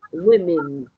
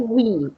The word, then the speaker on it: women: That is more like an A. Women. Okay? Women. Not we, women.